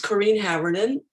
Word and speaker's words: Corrine Haverinen: My name is Corrine Haverinen, and that's how you pronounce my name. I know it's not so easy. It's Finnish.